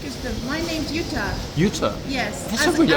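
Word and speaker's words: Jutta: My name's Utah.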